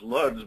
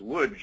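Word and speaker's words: Łódź: well spelled lodz so you think it's pronounced luds but it's actually pronounced wood in Polish and here in the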